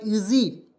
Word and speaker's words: easy: उसके बाद देखिए EASY ईजी, ईजी पढ़ेंगे दोस्तों, ई से ई लिखेंगे और SY का उच्चारण जी के रूप में, जा के रूप में करेंगे, ईजी हो जाएगा।